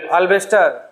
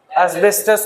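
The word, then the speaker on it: asbestos: बना होता है टिन अल्बेस्टर हां अल्बेस्टर नहीं होता वो एसबेस्टस होता है एसबेस्टस एसबेस्टस अभी स्पेलिंग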